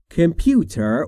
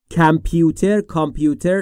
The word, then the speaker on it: computer: Computer will spell all the sentence for me. Computer will spell all the sentence for me. Computer که معرف حضورتونه. کامپیوتر تلفظ درست در انگلیسی نیست.